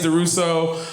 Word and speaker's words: DuRousseau: he said my name right it is deuso but when I'm drinking red wine I like to pronounce it Dura cuz that [